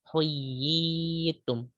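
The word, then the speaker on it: حُيِّيتُم: Huyitum. Huyitum. Nah, ya yang kan berkumpul 2, yang pertama hidup kemudian pakai tasdid, yang kedua ya-nya mati. Jadi huyitum. Itu seperti mad tabi'i sama 2 harakat karena emang kalau asal-asalnya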